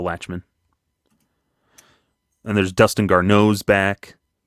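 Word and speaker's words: Lachemann: with Jerry Weinstein and Marcel lochman probably not pronouncing that right Latchman is it Latchman yeah Marcel Latchman and there's Dustin garos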